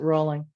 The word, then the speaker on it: Rowling: going to solve that rolling or rallying that's the big controversial thing rolling around i think she pronounces it rolling well it's a row